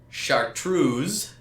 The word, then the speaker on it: Chartreuse: It is chartreuse, but this is spelled SHARTROOZ. Chartreuse. In to acknowledge its peculiar coloration. So that's mine. Chartreuse. Chart Ruse.